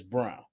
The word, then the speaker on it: Braun: Well, one is Braun, but they said it's Brown. Pronounced Brown. Yeah.